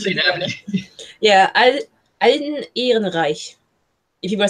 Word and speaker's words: Ehrenreich: It's Alden Ehrenreich, I think is how you pronounce it.